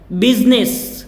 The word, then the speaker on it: business: BUSINESS, BIZNIS। तो इसका pronounce का तरीका ही हो जाएगा, Z से ज की आवाज़ आती है, ज। बिजनेस, बिजनेस, बिजनेस, right.